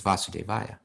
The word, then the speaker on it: Vasudeva: right now and see right if it has a long a or short a but i don't think they changed that mantra it's vasudeva okay but but the